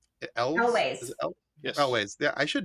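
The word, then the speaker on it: Elwes: Carrie, and I never can pronounce his last name. Elways.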